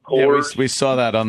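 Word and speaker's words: Kohrs: It's Coors, K-O-H-R-S. I think it's pronounced Coors.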